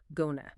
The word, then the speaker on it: gonna: In casual speech, this very often becomes gonna. Gonna. Gonna. Yep. Often pronounced with the soft sound at the end, like J-N-A, not a hard A.